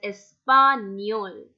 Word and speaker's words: español: The sound it gives is near, español. That's the reason why we are pronouncing this word as español.